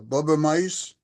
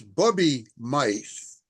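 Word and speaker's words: bubbe meise: say uh just because of the way you pronounced it when you referred to the uh Bubba mice that's an old Jewish word Bubby it's Bubby mice W okay Bubby stands is a Hebrew word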